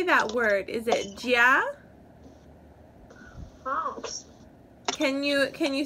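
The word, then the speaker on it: 家: Is it jia?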